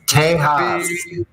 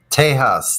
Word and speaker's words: Tejas: Texas is pronounced Tejas. Tejas.